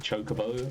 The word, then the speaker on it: chocobo: was voice acted, and in that they said chocobo, and I take that to mean that's supposed to be the canonical pronunciation, but although Final Fantasy